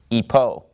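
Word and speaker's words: ὑπό: rough breathing mark so in the ancient Greek pronunciation you know it started with an H sound we're of course using modern Greek pronunciation so we would pronounce this word Ipoh but it comes from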